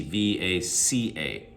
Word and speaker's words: vaca: a c a now when when i say the letter v right uh it's like a hard f vaca but in spanish it's more like a somewhere between a v and a b it's then unaspirated uh v it's not vodka it's more like so it sounds like a b the way it's used